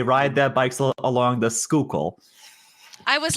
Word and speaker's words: Schuylkill: uh Schuylkill is pronounced Schuylkill but it's spelled s-c-h-u-y-l-k-i-l-l unless you're from South Philly and then it's the skukle the skukle yeah you get that liquid uyl in there um but you know